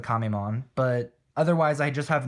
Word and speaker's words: Kamemon: it's actually uh kamemon because that's how you sort of pronounce turtle in japanese um so it's kamemon